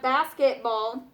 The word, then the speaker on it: basketball: But when you have basketball, listen to that. Basket. Which one has my most enunciation? Is it bass or kit?